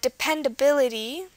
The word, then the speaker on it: dependability: stress is democracy uh dependability dependability the stress is on the B third from last and photography we